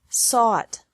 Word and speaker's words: sought: Seek, sought, sought. Teach, taught, taught. Think, thought, thought. Remember that the G is silent in these verbs.